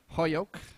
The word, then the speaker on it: Holyoke: Holyoke, as I've been told to pronounce it by Mr. Jeffrey himself.